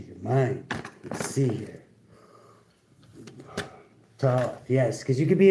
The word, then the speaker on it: Thoth: Pronounced Thoth.